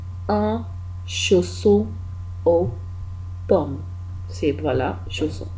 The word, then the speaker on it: chausson: इसको कहते हैं un chausson, chaud CHAU, chaud double SON, son, chausson। ध्यान से, क्योंकि यहाँ पे अगर डबल एस है, दो बार एस लिखा हुआ है, तो इसको एस की तरह प्रोनाउंस करना है, इसको